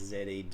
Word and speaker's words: zed: ending in London is ZED, in the sense that British people and Australians indeed pronounce the word Z, ZED, as opposed to Z, like the Americans.